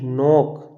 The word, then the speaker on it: knock: जैसे ये लिखा है नॉक, KNOCK, नॉक। यहाँ पढ़ रहा है नॉक, पढ़ा जा रहा है नॉक, ये नॉक नहीं नॉक, क्योंकि एन से पहले क्या आया गया।